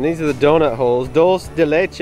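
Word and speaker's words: dulce de leche: are the donut holes dolce de leche i had to ask her and she said yes i am correct in that pronunciation but i'm still not confident in it but dos de leche donut holes and there's the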